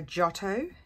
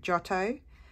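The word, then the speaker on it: Giotto: who's new is a jotto GI in Italian GI is pronounced as a j so jotto glue stick and um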